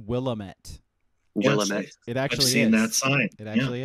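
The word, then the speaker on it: Willamette: did you know that the wamit river is actually supposed to be pronounced willamet it actually that it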